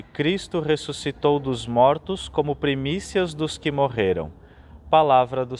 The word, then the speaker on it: primícias: do verbo por colocar e Primícias salientando a sílaba que tem o acento no i' Primícias o evangelho retirado de